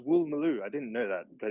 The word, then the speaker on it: Woolloomooloo: No, Doman learned all his English at the University College of Woolloomooloo. Great monkey. Woolloomooloo, the Australian one? Woolloomooloo? And actually, it's pronounced Woolmaloo.